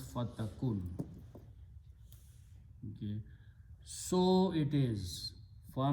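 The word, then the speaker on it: فَتَكُنْ: Takunu, wow is not pronounced, so this goes away, so it becomes fatakun.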